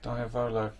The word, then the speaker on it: diavolo: go one pizza express diavalo diavolo how are we pronouncing that diavolo yeah so um looks